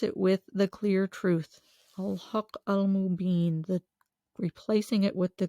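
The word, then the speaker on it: Al-Haqq: Al-Haq, H-A-Q-Q is the way that is spelled in the transliteration.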